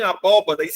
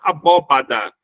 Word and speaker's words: abóbada: abdômen abóboda não tem abóbodas igreja geralmente tem aquelas abóbodas né aquela aquela parte circular que fica em cima tanto a gente pode falar abóboda como também pode falar abóbada As duas são corretas aborigene aborígene geralmente são